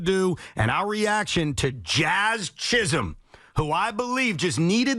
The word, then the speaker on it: Jazz Chisholm: We will get into the trade deadline, what the Mets won't do, what the Yankees should do, and our reaction to Jazz Chisholm, who I believe just needed the opportunity in New York City to become a star.